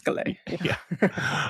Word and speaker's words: Gallet: of the uh G gallette gay yeah thank you uh again stupid American can't uh pronounce that one I feel like I've heard enough times that I'm confident yeah it's gay um anyway Ling acquired